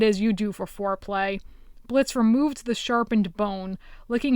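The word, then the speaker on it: Blitzø: ask before but you're blitzo right it's pronounced Blitz now he said swiftly almost mechanically as if he had to correct people every single day the O is silent without looking Blitz reached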